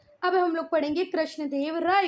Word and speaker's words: कृष्णदेव राय: मैं भी सुनती हूं तो वो बोलते हैं कृष्ण देव रया जोक वो कृष्ण देव रया नहीं बेटा कृष्ण देव राय हैं तो ठीक है पढ़ने